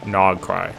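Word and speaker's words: Nod-Krai: Krill pronounced as cry. So Nog cry. Okay. No cry.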